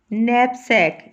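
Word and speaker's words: knapsack: नैपसैक, इसका case silent है।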